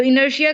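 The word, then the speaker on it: inertia: इट्स टिया। टिया की sound it's Shia. इनर्शिया।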